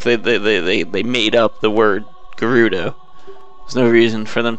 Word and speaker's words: Gerudo: No reason why they make that G a J sound for an entire like type of people.